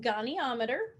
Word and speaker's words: goniometer: called the goniometer and that is how it's pronounced goniometer and here's what a